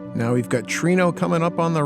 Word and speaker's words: Treno: And now we can head to Trino. I know some people call it Treno. That's probably even the right pronunciation. I call it Trino.